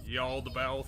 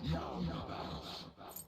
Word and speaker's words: Yaldabaoth: That was a lot more syllables than that. I don't know, I think that's... No, it should be something like Yaldabouth. The god of control, Yaldabaoth. Oh yeah, I was exactly right, Yaldabouth. Except the first thing you said was not Yaldabaoth. I'm Because pretty it was only sure two. it was. The first thing you said was 2 syllables.